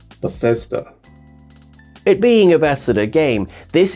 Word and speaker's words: Bethesda: touching it being a bath Sitter game I hope I'm pronouncing that correctly bethseta bathsitter bear says duh Bethesda it being Ambassador game